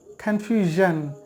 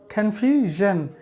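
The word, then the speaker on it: confusion: তাহলে জন আর এই দুটোর মাঝামাঝি একটি শব্দ উচ্চারণ হবে সেটা হচ্ছে কনফিউশন কনফিউশন যারা আরবি মাখরাজ নিয়ে কাজ করেন বা আরবি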